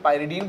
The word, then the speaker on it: Pyridine: तो सबसे पहले हम देखेंगे कि नेमिंग आप सब्सिट्यूटेड पिरिडीन या पाइरीडीन, जो भी आप बोलें, इसका प्रोनाउंसिएशन कुछ लोग पाइरीडीन बोलते हैं, कुछ लोग पिरिडीन बोलते हैं।